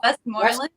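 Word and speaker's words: Westmoreland: new word number six it's not wesy house it is what is it West Morland West Morland West Westing gorland West Morland West Mor West Morland yeah yeah West Morland glass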